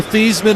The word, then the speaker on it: Theismann: same thing as Joe Theismann and Joe Theismann? I'm saying it's not that. Exactly, yes. That's exactly. When you change your name to rhyme with Heisman your senior year at